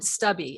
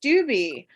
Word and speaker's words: Stubbe: did better you know stupid so much better than stubby I just want you to know your name is pronounced stewby but I just wanted